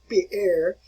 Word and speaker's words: Pierre: All right, you want to pronounce his name like Peter, or actually properly it would be Pierre, Peter Abelard.